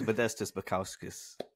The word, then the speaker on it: Modestas Bukauskas: His name is Modestas Bukauskas.